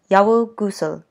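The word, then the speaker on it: 여우구슬: and I realized that I didn't pronounce one of the most important objects in the book, which is the yeowu guseul, which is Miyoung's fox bead that she loses at the beginning of the book and spends the whole time trying to get back. So yes, yeowu guseul, the fox bead.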